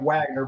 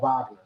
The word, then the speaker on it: Wagner: It's spelled like Wagner, but it's called Wagner.